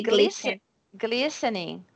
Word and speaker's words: glistening: And the glistening. So you saw that we don't pronounce the T, right?